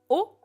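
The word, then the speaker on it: を: particule de COD donc qui s'écrit W qui se prononce en général plutôt o oniniste pas trop sur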